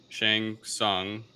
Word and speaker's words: Shang Tsung: ancient mortal kombat tournaments um the emperor's sorcerer shang tsung i hope i'm pronouncing it right i don't know correct yep